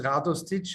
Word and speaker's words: Radostic: The correct pronunciation is Radostic.